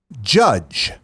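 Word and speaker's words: Jydge: all right number four judge but Judge is spelled j y d GE build your dystopian police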